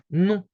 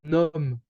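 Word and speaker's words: nom: from what you hear in French we have no uh if we're being kind of logical with how it's written here uh we would say num because we can see the consonant at M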